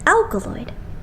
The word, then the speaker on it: ALKALOID: and didn't get what it meant so it's pronounced as alkaloid well better than being called The Underachievers alkaloid